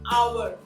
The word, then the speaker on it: hour: Although they begin with an H, that which is a consonant, it has a vowel sound because the consonant H is silent. So we say an hour, an honest man.